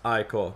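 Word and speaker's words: Ichor: fill it with magical i call that's pronounced i called i know i pronounced it right choose your i call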